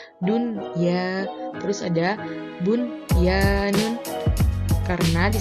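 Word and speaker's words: دنيا: Berikut contohnya, seperti lafadz dunya, karena di sini ada nun sukun bertemu dengan huruf ya, sehingga bacanya jelas menjadi dunya.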